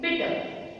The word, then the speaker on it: bitter: Say bitter. R is silent.